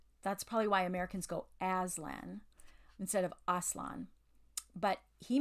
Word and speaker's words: Aslan: gonna be honest that's not how I've been pronouncing it I think I used to say Aslan but Aslan is how they're saying it so today when